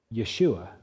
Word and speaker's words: Yeshua: Yeshua. Now, Jesus, of course, is a Greek version of a name. Do you know how you say the Hebrew version? Yeshua.